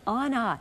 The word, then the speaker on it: Ana: the year it will be pronounced Anna not Anna so so you are